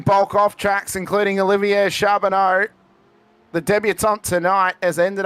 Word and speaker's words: Charbonneau: See, and I know that you're pronouncing it correctly, but I want to put a T on there and call him Charbonnet because that's a. Well, I was going to say it sounds like a wine.